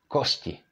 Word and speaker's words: kosti: However, this is pronounced kosti. Kosti. Because there is měkké I following t.